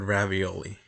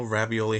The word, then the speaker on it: ravioli: A little trick that I like to use is using the word ravioli. In case you didn't know, ravioli has 4 syllables. Ravioli, ravioli. So it aligns pretty well with the 16th note.